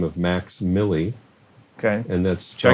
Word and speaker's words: MVXMILLI: He goes by the stage name of Max Millie, Okay. and that's Check spelled, it out. And it's spelled MVXMILLI, Okay.